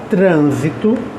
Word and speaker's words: trânsito: com outras palavras como trânsito veja trito proparoxítona o TR lá é a antepenúltima e transito de transitar